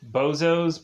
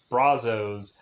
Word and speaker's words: Brazos: one show that is usually mispronounced bozos but it's brazos and so it's to